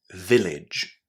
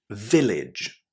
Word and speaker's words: village: Village. Village. How was the AGE ending pronounced here? It sounded like idge, exactly like the word bridge in English, right?